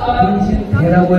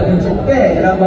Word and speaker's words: 등신대: 제 뽀뽀까지 있는 거 발음을 잘해 주셔야 돼요 오빠 등신 대라고 해줘야죠 오빠 등신 때라고 하면은니까 근데 이게 하나가 아니에요